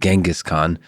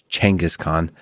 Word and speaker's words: Genghis Khan: still trying to adjust most of my life said genghis khan but the right pronunciation is uh actually changus khan there's a tension there